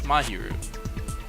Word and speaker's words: Mahiru: You had me thinking it was Miharu. It's not, it's Mahiru.